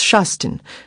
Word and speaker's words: Kirsten: If she had pronounced my name as it should be pronounced, that is as more or less Shasten.